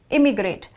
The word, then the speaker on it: immigrate: Now let's understand how the word emigrate is different from immigrate. First of all, emigrate has a small E sound like this and immigrate has a small I sound.